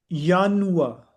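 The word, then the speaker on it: Januar: है जनवरी ठीक है इंग्लिश का उसको जब जर्मन में करेंगे तो कहेंगे यानुआ यानुआ यानुआ और फब को कह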